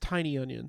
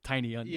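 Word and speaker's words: Tynion: It's pronounced Tiny Onion. Tiny Onion. Phonetically, it's Tiny Onion.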